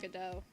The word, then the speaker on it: Godot: Actually, it's pronounced Godot.